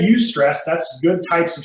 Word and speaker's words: eustress: the opposite of stress use stress is how that's pronounced so when i say use stress that's good types of